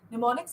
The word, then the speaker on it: mnemonics: Mnemonics, it's with an M is silent, it's called mnemonic, and too many of them are called mnemonics.